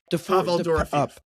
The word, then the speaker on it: Pavel Dorofeyev: We started talking about how do you pronounce his name? Dorofeyev. Pavel Dorofeyev.